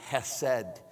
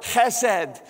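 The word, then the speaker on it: חֶסֶד: of fun to say it sounds like you're clearing your throat it's ed say that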